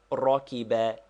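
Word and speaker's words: رَكِبَ: is this Rocky bear it is pronounced Rocky bear and means he rode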